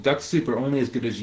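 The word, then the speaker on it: Dux-Soup: So if I was going to do that, I'd be using a tool called Linked Helper or Duck Soup.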